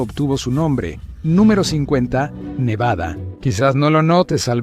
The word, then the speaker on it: Nevada: Los locales enfatizan el bad en Nevada. Mientras tanto, la gente de fuera dice BA nevadenses, nevadenses, no te reprocharán si te equivocas.